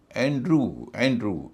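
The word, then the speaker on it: Andrew: एंड्रू, इसको भी कई लोग एंड्रयू कहते हैं या एंड्रयू लिखते हैं, लेकिन चूंकि EW से पहले आर है तो ऊ ही होगा, इसलिए यहाँ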